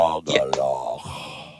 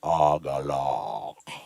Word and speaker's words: Agalloch: You should say just like Agalloch. Yeah, I think it's a Japanese word. I think they were saying for a type if it's of Japanese, resonance. you definitely got to say it like that. Agalloch.